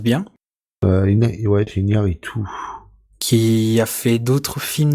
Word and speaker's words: Iñárritu: Alors à la réalisation, alors excusez-moi pour la prononciation, on retrouve Alejandro González Iñárritu, je sais pas si je prononce bien, Ouais, c'est Iñárritu.